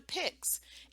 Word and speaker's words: PICS: Except with a pix.